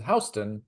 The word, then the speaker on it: Houston: you know uh oh H County Georgia is also pronounced like the street so it's also H